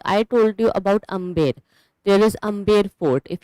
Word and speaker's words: Amer: But Mughals, they could not spell it correctly. So they used to pronounce it incorrectly, and they started saying it Amer. Okay, so instead of Amber, it became Amer.